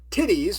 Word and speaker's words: Tiddes: Directed by Michael, how I can only pronounce it as Tiddes, with D's, not T's.